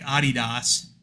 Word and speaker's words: Adidas: How many companies rather, like Adidas, which is how the Germans pronounce it. We pronounce it Adidas.